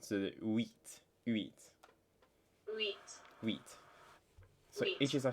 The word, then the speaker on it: huit: So in French, moving on to wheat, H's are silent. So you would just say U. You would just pronounce the U and the E sound. So the wheat.